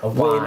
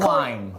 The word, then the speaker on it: Owain: Can I just Owain. Owain. It's like wine with an O in front of it, darling.